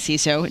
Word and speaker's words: CISO: Pronounced as CISO, not anything else.